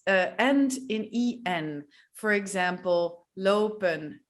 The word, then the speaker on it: lopen: Well, yeah, we just decided to speak fast, don't pronounce the N and pronounce the last E as an E. Lopen, werken, rennen, eten.